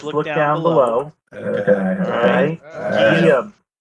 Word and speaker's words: Guillaume: Guillaume. Like William, like sort of, but Guillaume.